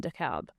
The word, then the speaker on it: DeKalb: A tab about my hometown, DeKalb, Illinois. We pronounce the L in DeKalb.